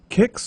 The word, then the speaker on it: QIX: Kicks or quicks, depending on how you pronounced it. I think it's kicks like the serial but with a Q like the guy from Star Trek, is played with the